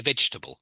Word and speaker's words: vegetable: I mean, I think in words like vegetable, we don't say that. We say vegetable, vegetable, or chocolate. Not chocolate. We miss the O in the middle out, chocolate.